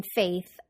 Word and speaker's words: faith: To pronounce the A vowel sound in faith, be sure to pull your lips back so that you can include the Y sound in A. Faith. Also, be sure to place the tip of your tongue between your teeth to create the th sound at the end of the word, or else it'll sound like a t or a s.